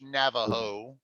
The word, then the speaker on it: Navajo: uh in the us navajo they pronounce that j like an h navajo like spanish yeah like spanish okay so